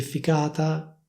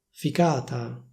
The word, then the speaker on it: ficata: Ovviamente anche in questo caso esiste una variante con il suono c, quindi con la lettera c, che ficata, ficata.